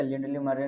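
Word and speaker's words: Lindley Murray: थे, तो बोलता है लिंडले मुरय। अच्छा एक स्टूडेंट बोल रहा था एम यू से मुंह और रैत यानी मुरय, तो इसका प्रोनाउंसिएशन मुरय नहीं है, क्या है, लिंडली मरे बोला जाता है।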